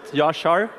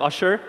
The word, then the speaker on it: Yashar: this is my name don't mind learning how to pronounce it yashar when i was living in the us i called myself usher so you can call me that when you talk to